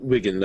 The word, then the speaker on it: Wigand: him as Wigand or Vigand. How do we pronounce it, Corey? Oh, Wigand. I just pronounce it with a W.